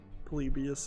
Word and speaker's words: Polybius: game on Steam called polybius or yeah polybius is how that's pronounced uh now as I